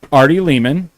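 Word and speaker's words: Ari Lehman: Arty Leman rhymes with demon cuz I'll never forget that.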